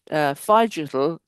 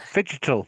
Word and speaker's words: figital: the discussion on how figital, combining the words physical and digital spaces The figital. Figital, oh figital, yes, better pronunciation, can actually enhance strategic